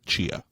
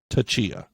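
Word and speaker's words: Tchia: Now, when you're actually in the game, the T is just silent. They just say Chia.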